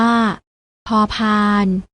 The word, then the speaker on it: พ: อ่าน ว่า ผอ ผึ้ง ส่วน พยัญชนะ ตัว ที่ 2 อ่าน ออก เสียง พอ อ่าน ว่า พ พาน และ พยัญชนะ ตัว ที่